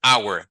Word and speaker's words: hour: qui pour nous c'est même en anglais our hour pas s il n a pas de s